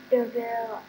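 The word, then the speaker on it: de Vil: Pronounced DeVille.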